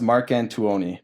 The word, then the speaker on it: Marcantuoni: say it no yeah it's pronounced Mark Antoine people really get fucked up at the TU part to Oni yeah it's Italian yeah oh you're Italian yeah